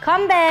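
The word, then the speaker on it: 건배: You say kambe.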